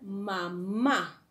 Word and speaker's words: mamá: Ahora, siguiente palabra, mamá. La palabra mamá, tenemos aquí que la segunda sílaba es la sílaba tónica, ¿no?